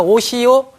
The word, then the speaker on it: 오시오: 그러니까 오시오, 가시오. 비록 발음은 요로 나지만 이것은 지금은 잘 쓰진 않습니다만 오의 형태가 맞는 거예요.